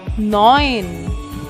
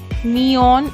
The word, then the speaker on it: neun: Next, 9 is Neun. Neun. It's not neon, it's neun.